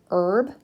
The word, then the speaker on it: herb: Sometimes in English, the H sound is not pronounced, like herb, H-E-R-B, meaning oregano or parsley.